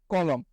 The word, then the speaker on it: কলম: লতে উচ্চারণ হচ্ছে, মতে আর উচ্চারণ হচ্ছে না।